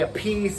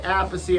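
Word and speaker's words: Appice: Some people say a piece, I say apey.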